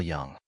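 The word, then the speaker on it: Jung: they're both by Carl Young he raised his eyebrows you say his name correctly better than you say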